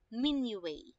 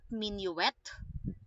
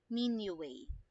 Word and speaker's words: minuet: numbers are pertaining to mini way okay not minuet not me no at not minute or minute not that okay it is called as menu way okay mini way next one how about